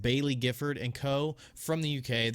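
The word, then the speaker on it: Baillie Gifford: This morning, Nio released an SEC filing from, I believe it's pronounced Bailey Gifford and Co.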